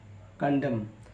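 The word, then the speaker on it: condemn: ए एम एंड डैम सी ओ एन डी ई एम एन कंडम निंदा करना तो ऐसे आपने देखा एम के बाद एन आया तो एन को नहीं पढ़ा अब हम बात करते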